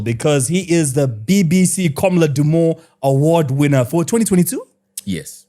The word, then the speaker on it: Komla Dumor: Komla Dumor, BBC journalist. Yeah, no, I'm the saying. late. I'm just saying the way you're pronouncing it.